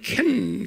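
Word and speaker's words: חן: 그러니까 CH가 그 복합적으로 발음되는 거예요. 그 캔 이런 소리, 캔 이런 소리예요. 그 hen 그렇게 그래서 그냥 hen 하면 안 돼. 그 붙이고는 그 hen 이렇게 발음을 해. 우리 말에는 없는 발음이에요. 그 다음에 그리스 말로는 뭐예요?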